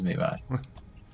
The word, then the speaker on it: Mirai: Apologies, Mirai. Mira, like the Japanese word for future.